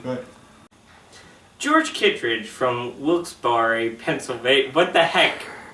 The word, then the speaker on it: Wilkes-Barre: room I can't do it George Kittredge from Wilkes-Barre Pennsylvania what the heck how do you pronounce that word Willis bar you stupid you're such an idiot I didn't